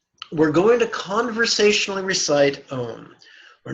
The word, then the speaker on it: Om: In brackets, you'll notice the word home with the letters O-M, bold and underlined, which infers we pronounce the syllable Om as in the word home.